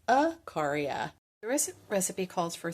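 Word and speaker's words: Ikaria: there it is the island of I've been pronouncing it wrong it's not e caria it's aaria the re recipe calls for three large Globe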